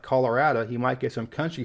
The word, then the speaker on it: Colorado: In similar fashion, the vast majority of people I think pronounce this properly Colorado, but you do get a decent number of country folk out there saying Colorado, but I think the pronunciation closer to Spanish is the correct one here.